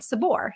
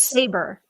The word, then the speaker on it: Saber: Oh shoot, I kind of was saying it wrong. I'm sorry. Like saber-tooth tiger. All Totally right, so fine. Noor, Nour, last name Saber, Saber, not Sabor.